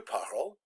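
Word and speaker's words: parles: parle with an es now they're pronounced exactly the same je parle tu parle the infinitive was pronounced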